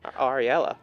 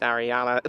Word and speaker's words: Ariella: Ariella. Oh dear, I think I pronounced I said Ariana last game.